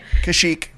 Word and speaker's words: Kashyyyk: wookie homeworld Kashyyyk it is chic and you pronounced it correctly Kashyyyk okay I prefer to only use the wookie